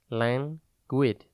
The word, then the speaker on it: languid: It is pronounced languid and spelt L-A-N-G-U-I-D. Think lang, like the beginning of language, the letter U, and then I-D.